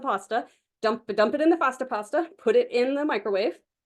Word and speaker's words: Fasta Pasta: But if y'all have never heard of or never seen a Fasta pasta, it's F-A-S-T-A, like pasta, but with an F in front of it. A Fasta pasta.